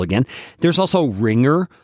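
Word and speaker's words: Ringr: syllable again there's also ringer r i n g r again feeling allergic here there is also clean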